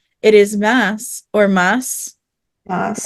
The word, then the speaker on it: Mads: It is Mads, spelled Mads, but it's but not I read pronounced it. It is not because he says it is Mass or Mass Moss.